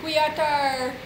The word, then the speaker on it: Qatar: fans and nasties in Qatar it's notar q a t a r Qatar how do you pronounce it qar qar what happens to the a after the Q quar quar very good I think I'm pronouncing